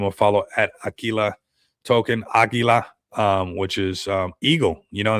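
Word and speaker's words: Águila: everywhere, which is cool how it's spelled with a Q here. But it is like almost how we say it in Spanish, Aguila. You know, we say it with a G, but I mean, there you guys go.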